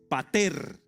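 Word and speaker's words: πατήρ: En griego, la palabra para padre es pater. Así como se escribe, p a t e, tilde en la e, r.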